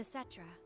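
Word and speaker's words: Cetra: They called themselves the Setra. Setra? That's how you pronounce it?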